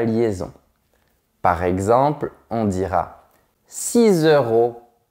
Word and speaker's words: six: Mais attention, quand tu as un mot qui commence par une consonne ou un H aspiré après, tu ne dois pas prononcer la dernière lettre. Par exemple, tu diras 6 personnes, 8 hiboux et 10 chaises.